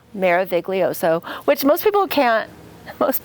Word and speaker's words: Meraviglioso: language or whatever so maroso phonetically it's Mara voso Mara voso which most people can't